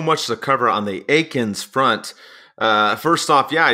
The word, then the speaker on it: Eakins: know correct pronunciation and he's like hey it's Aiken like bacon so I'm like oh